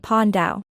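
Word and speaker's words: paj ntaub: Pine tob, literally, flower cloth. An intricately worked textile is pronounced pon dao.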